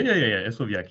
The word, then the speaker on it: Hersovyac: Am I even pronouncing it properly? Yeah. Hersovyac, yeah.